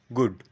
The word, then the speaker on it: গুড: আমাদের শিখে নিতে হবে আমরা গুড কে বলবো গুড শর্ট করে দেব আমরা ব্যাড কে বলব ব্যাড একটু স্ট্রেচ করব তাহলে কিন্তু শুনতে ভালো লাগবে।